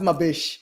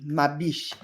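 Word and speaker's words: Ma Biche: let me double check I think it's b i c h e but it's pronounced my Bish I just like saying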